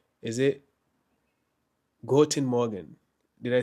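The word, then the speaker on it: Guten Morgen: Is it Goen Morgan? Did I say it right? Yes, you got it right this time. Goen Morgan.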